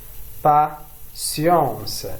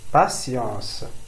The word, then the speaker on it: patience: patience patience. لدينا هنا تي ينطق بالسين. patience. لا نقول patience.